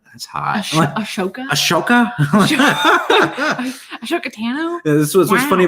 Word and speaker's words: Ahsoka: Ahsoka? That's hot. Ashoka?